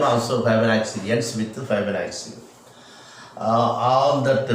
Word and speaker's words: Fibonacci: Fibonacci. One C is pronounced as K, and another one is yes, like that.